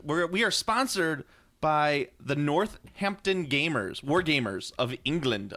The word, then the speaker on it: Northampton: t h a m it's nor it's not ampon you got to say it right you got to say it right I'm doing a dick Fang dike yeah you got to say it right it's not ampton I'm a chimney sweep